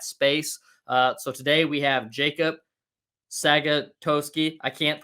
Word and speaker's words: Jakob Sagatowski: So today we have Jakob Sagatowski. I can't pronounce the name for anything, so we'll let Jakob pronounce his name for himself. You actually pronounced it quite well. Jakob Sagatowski.